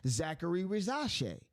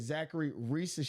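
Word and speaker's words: Zaccharie Risacher: name and and I'm thinking oh rash rash Zachary rash but is Zachary rash okay it's the correct pronunciation is Zachary Ree and I wanted to make sure that I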